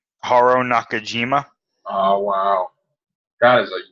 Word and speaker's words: Haruo Nakajima: Haruo Nakajima.